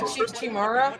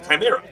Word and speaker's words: chimera: Chimara. Chimra. Chimara. Okay. Something like that. It's a It's a chimera.